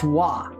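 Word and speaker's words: は: it very frequently is, it is pronounced wah.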